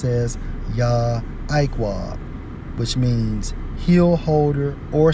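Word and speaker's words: יַעֲקֹב: Okay, this is for Jacob, Strong's H 3290, pronounced as Yah-Iqwah, which means heel holder or supplanter.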